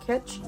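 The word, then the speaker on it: Kitsch: got these scrunchies from I believe it's pronounced kitch they're a silky kind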